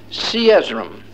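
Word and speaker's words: Cezoram: what what was it siesram is the way it's pronounced it was the zonamites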